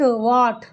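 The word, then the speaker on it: what: आट आट लिखा हुआ आट तो उसको कैसे वाट वट ट मतलब ह भी आ रहा अ भी आ रहा दोनों शब्द आने चाहिए तो वट आप इसको इस तरीके से पढ़ेंगे ठीक है आगे आइए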